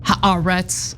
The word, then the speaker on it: Haaretz: I know it's pronounced Haaretz. I'm gonna pronounce it like an American would.